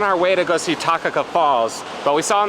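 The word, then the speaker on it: Takakkaw: just one and then uh how do you pronounce the Falls that start with the T down this road takaka okay cool home sweet home it makes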